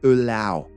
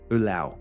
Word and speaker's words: allow: Ça se prononce allow, avec le son ow. Genre vous avez mal, ow. C'est pas hello ou hello, je sais pas quoi. Non, ow, allow.